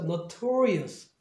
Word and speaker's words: notorious: notorious 이렇게 돼요.